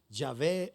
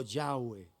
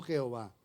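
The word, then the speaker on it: Yahweh: el fonema de la pronunciación del nombre del señor yahvé o yahwe lo más cercano no Jehová realmente Jehová es una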